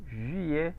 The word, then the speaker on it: juillet: consonante que no se pronuncia. Ahí está. Entonces, juillet. sería Juliet, Juillet.